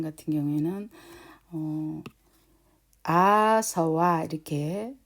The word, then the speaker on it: āsava: 그래서 실제로는 아, 서, 워 이렇게 할 때는 그 오리지널 발음대로 하자면은 앞에 것은 아로 발음을 하고요. SA 같은 경우에는 서로 주로 발음이 됩니다.